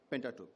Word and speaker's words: Pentateuch: Is that how we pronounce the word? Pentateuch. Pentateuch, yeah.